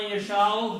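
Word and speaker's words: من يشاء: Allah man yasha'u, whomsoever he chooses, he will send his revelation. Okay? So that's the meaning of Allah man yasha'u. You pronounce this meme with a gunna because of a ya.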